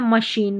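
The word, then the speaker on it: machine: Clinch, ठीक है, ये देखें गॉश, ये है मशीन, मशीन की स्पेलिंग काम आती है।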